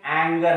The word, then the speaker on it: anger: Anger. How it pronounced? Anger. Ga.